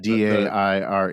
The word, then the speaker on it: Daire: but it's Yeah, pronounced crumb dove. and It's a the other great one name. was Dire. Dire, yeah, The Daire, king of the Dire.